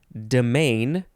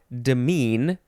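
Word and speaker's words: demesne: somehow it's probably dimersal the next word is domain or demean this is spelled d-e-m-e-s-n-e domain demean noun from The 14th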